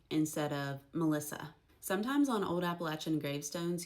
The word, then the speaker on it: Melissa: Melissy instead of Melissa. Sometimes on Old Appalachian gravestones, you'll find names spelled how they pronounce them.